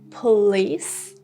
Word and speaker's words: police: Police. Police. And policeman or policewoman. Policeman, policewoman. Don't say police.